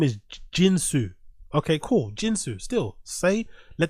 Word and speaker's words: Jin: His actual name is Jin, right? As in J-I-N. But no one can pronounce it. Well, all the idiots in that studio, especially Brendan, namely Brendan, couldn't pronounce Jin, but they mispronounced it as Chin.